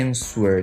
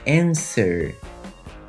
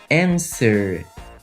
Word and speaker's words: answer: confirmed o verbo answer muita gente quer ler o w w não é lido não é answer tá é answer answer Ele termina com r